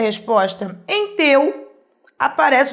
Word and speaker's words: teu: Sem olhar para o quadrinho, eu percebo na pronúncia que o E é mais forte que o U.